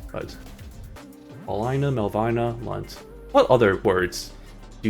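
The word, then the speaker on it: Melvina: Similarly, there's also M E L V I N A, which you think, oh, Melbina, no, or Melbina, but no, it's pronounced Melbina.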